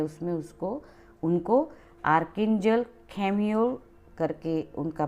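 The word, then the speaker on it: Chamuel: यहाँ पर कोई इसको यहाँ पर कई लोग आर्केंजल खेम्यूल को आर्केंजल शेम्यूल अलग अलग नामों से इनका प्रोनाउंसिएशन होता है, पर हिब्रू और जो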